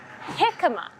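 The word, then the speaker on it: jicama: affordable one option is something called hikma spelled with a J so hikma you would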